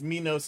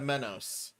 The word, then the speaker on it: Menos: you and there and some people actually mispronounced my name is minos instead of menos uh